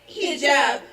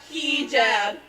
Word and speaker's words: hijab: It's hijab, not hijab.